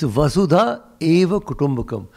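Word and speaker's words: वसुधैव कुटुम्बकम्: Except that everybody in Delhi mispronounces it and thinks it has something to do with Vasudeva Krishna. Nothing to do with Krishna. It's Vasudha Eva Kutumbakam.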